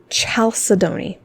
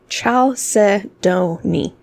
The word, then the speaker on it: chalcedony: so let's talk about chalcedony that's how you say it chalcedony ciao se donnie funny looking word it's